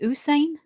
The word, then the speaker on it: Usain: Is that how you pronounce it? Usain.